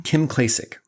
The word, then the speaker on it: Kim Klacik: Kim Klacik.